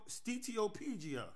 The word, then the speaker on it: steatopygia: The reason was Bartman, also known as Sarah or Saratagia, had what was called steatopygia. I could be pronouncing it wrong. Matter of fact, let me get it right. Steatopygia.